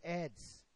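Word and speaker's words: Aedes: ah eds eds hein a pronúncia é eds em latim eds egipt tá e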